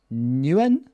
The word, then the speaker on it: Nguyen: Hola Nguyen. I would say it's a silent G, but good to have you guys on the call.